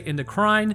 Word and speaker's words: endocrine: to learn about the endocrine system. And also some people say endocrine. It's a lot like Neanderthal or Neanderthal. It doesn't matter whichever way you pronounce it.